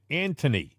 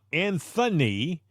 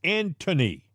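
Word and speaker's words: Antony: should buy the man an H because he pronounces his first name Anthony not Anthony with an H it's Anthony blinkin all right so maybe for Christmas if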